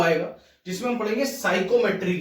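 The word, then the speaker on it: psychrometry: ठीक है, chapter number 7 साइकोमेट्री। ये लिखा जाता है पी साइकोमेट्री। ठीक है, और पढ़ा जाता है साइकोमेट्री। पी क्यों लिखते हैं ये मुझे भी नहीं पता है। ठीक है, जब साइलेंट ही है तो लिखना क्यों है,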